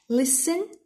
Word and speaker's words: listen: Listen. T is silent.